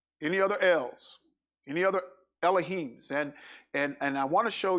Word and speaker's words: Elohim: They pronounce it Elohim. I think most of you kind of used to Elohim. It's actually it's Elohim, because You have the Aleph character first, which is the first letter of the Hebrew alphabet, and it's not L. It's not E. It's not a short E or a long E, the first letter in the Hebrew alphabet.